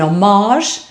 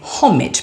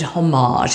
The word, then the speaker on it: homage: These days, those who know very little tend to pronounce it homage in a kind of faux French manner. I do not do so. Homage is what I say, very fun, rhyming almost with porridge, with a sort of beautiful dissonance.